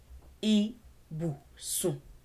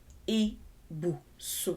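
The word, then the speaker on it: ibùsùn: So the word is pronounced I, bu, sun. Ibusun. Ibusun. That's how we pronounce the word.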